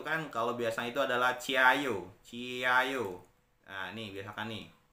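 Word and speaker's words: 加油: kyochi ciayo gitu ya Jadi ciayo bukan Ji Ayo tapi ciayu kemudian kalau dia ada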